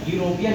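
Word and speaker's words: European: हम लोग इसको चेक करना है हिंदी में लिखकर, प्रोनाउंसिएशन जब यूरोपियन लिखा हुआ है तो यूरोपियन में फ्रेंड्स हम लोग कैसे लिखेंगे, यू रो पी य न, इस तरीके से।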